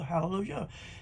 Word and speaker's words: Hallelujah: praise is hallelu hallelujah hallelujah yh pronounced ya hallelujah in these 44 places